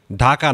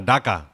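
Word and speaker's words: Dhaka: ডান, ঢাকা না, ডাকা। ইংলিশে ডাকা বলতে হবে। বাংলায় ঢাকা আছে, বাংলায় ঢ আছে, কিন্তু ইংলিশে কোনো ঢ নাই।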